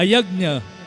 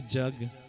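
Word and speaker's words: यज्ञ: the proper word, actually, proper pronunciation of the word in Sanskrit is yagna. Can you say that? Say after me. Say yagna. We just say yagna. We say jug. Nowadays it become jog. J-U-G. Jog. No. Proper Sanskrit pronunciation. Yagna. That's how it's pronounced, right?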